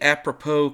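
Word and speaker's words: apropos: Then we would use the apppropo command. A p r o p os. Yeah, I know it looks like apppropose, but the correct pronunciation is apppropo.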